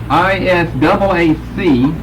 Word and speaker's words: Isaac: However, for the KJV, we have I-S-A-A-C that we pronounce Isaac in both the Old and the New Testament.